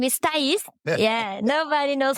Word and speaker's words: Tais: My name is Tais. Yeah, nobody knows how to say it here in the U.S. Yeah, it's Tais.